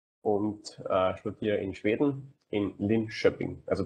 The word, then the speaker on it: Linköping: Ja, hallo auch von meiner Seite, ich bin der Florian, ich bin 25 und studiere in Schweden in Linköping. Also die schwedische Aussprache ist Schöping, das KÖ Entschuldige ist mich.